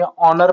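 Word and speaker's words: honour: नर य य देखो एच लेकिन ऑनर पढ़ा जाता हनर नहीं नर ओके तो ओ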